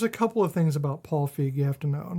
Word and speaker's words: Feig: Paul Feig.